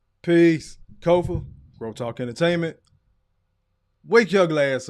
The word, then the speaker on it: Kofa: I am your humble host, Kofa, K-O-F-A, not coffee, not kufu, not Kofi, or any variation thereof. Kofa rhymes with sofa, easy to say, easy to spell, right there on the screen.